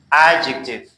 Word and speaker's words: adjective: Adjective صفت. پس اینجا حرف های D تلفظ نمیشه چرا که حرف های D قبل از حروف های G و J قرار گرفته.